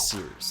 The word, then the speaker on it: Cyrus: Anyway, my name is Seers. It's spelled like Cyrus, pronounced like Sea Rooster, just take out the terror.